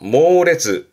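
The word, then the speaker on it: 猛烈: 강렬한 발음은 쿄레츠, 쿄레츠. 그리고 앞에 글자가 맹자입니다. 아주 맹렬하게 말이죠. 모레츠, 모레츠.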